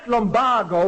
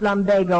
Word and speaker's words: lumbago: right uh I had lombo when I came to Chicago Mr schul that word is pronounced Lambo or they changed it recently they never changed it it's always been pronounced lumbago according to Webster all right but I